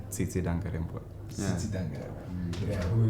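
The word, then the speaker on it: Tsitsi Dangarembga: Then there is Titi Dagrebo, right? Yes. How do you pronounce her name? Tsitsi Dangarembwe.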